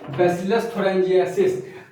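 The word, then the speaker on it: Bacillus thuringiensis: बीटी मतलब बैसिलस थ्यूरेन जीनेसिस बैसिलस थोरेंजिएसिस। अब ये प्रोनाउंसिएशन सही किया, स्पेलिंग में कोई गलती होगी तो माफ कर देना मेरे भाई, तुम लोग देख लेना।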